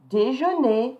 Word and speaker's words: déjeunez: So here, vous, I don't pronounce the S, vous déjeunez, is pronounced A, vous déjeunez au café.